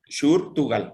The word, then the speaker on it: Shurtugal: Shurtugal, o sea, como se escucha, ¿no? Pero con SH.